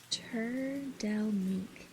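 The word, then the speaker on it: Trdelník: Either way, pronounced turelink.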